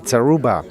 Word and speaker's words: Zaruba: show we have zaruba welcome thank you for having me i hope i pronounced your name correct you absolutely did thank you beautiful hey